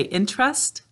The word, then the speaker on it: interest: it good we say inter-rest so you might notice when i say interest that's two syllables we've got to make sure we've got three syllables in there in tur s to